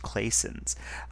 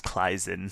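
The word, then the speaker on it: Claisen: Again, I think the proper German way to pronounce that is Kleisen.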